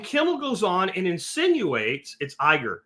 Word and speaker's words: Iger: No, it's not Iiker. It's Bob. No, I got to look it up now because you guys you guys are all wrong. CEO of Disy. I always get his name wrong. Bob Iger.